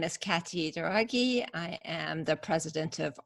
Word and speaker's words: Douraghy: So today I have a special guest, Katty, Douraghy. Did I Hello.